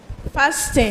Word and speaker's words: fasten: The T is silence. Just as we have listen and not listen, we don't sound the t so it's fasten. Hello.